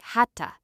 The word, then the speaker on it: had to: In spoken English, we often pronounce had to like hatta. It sounds like, "I had to go. I had to leave."